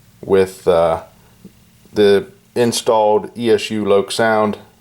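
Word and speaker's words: LokSound: rivet counter version with uh the installed esu lok sound sound decoder and yes i said lok sound most people mispronounce it it's not lock sound it's loc sound but anyways say it however you want uh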